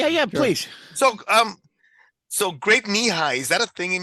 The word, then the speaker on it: Nehi: had this drink, and I didn't know that it was knee high because it's spelled Nehi, and it's Nehi sounds very Hawaiian, so I'm thinking, and I didn't know that that's what.